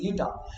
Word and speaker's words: eta: This symbol is this symbol will be is pronounced as eta. You have to pronounce this as eta.